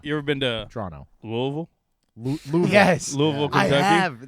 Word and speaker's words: Louisville: Louisville?